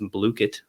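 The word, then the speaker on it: Blooket: And my favorite is Blookit, actually pronounced Blookit.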